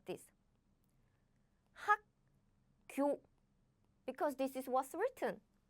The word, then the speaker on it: 학교: We don't pronounce that way. It's not 학교, but we pronounce it like 학교, 학교.